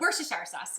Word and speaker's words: Worcestershire: Worcestershire. I'm kidding. Worcestershire sauce. Worcestershire sauce.